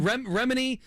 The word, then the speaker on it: Remini: Remini.